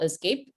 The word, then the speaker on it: ESCP: Yeah, the group name is called Escape. It's spelled ESCP, kind of like the escape key Okay, yeah, on the yeah.